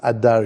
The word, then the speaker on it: Adar: longlasting you should plant ader trees in them and there aor with with but another way of pronouncing it is Adar you should implant the